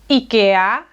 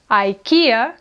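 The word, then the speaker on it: IKEA: Some say “IKEÁ”, “IKEÁ”; some say “IKEEA”, “IKEEA”; and there are also those who say “IKEIA”, “IKEIA”.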